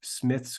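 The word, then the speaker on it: Smyth: It's spelled with a Y, S-M-Y-T-H, Smith's Greek Grammar.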